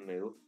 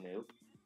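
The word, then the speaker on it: Moe: And, her name was literally Moo. But it's spelled M-O-E. It was like Mo, but they pronounced it Moo.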